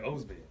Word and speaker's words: Osbey: She told me it's like Cosby without the C, and I was trying my hardest not to make a Cosby joke.